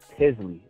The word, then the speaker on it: Tizly: The name is Tizly, and it's spelled T-I-Z-L-Y. And the way we got that name is, initially, we were looking at the word monetize, because that's the problem that we're trying to solve, monetization.